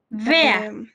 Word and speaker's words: wer: Sería Bar o Vea.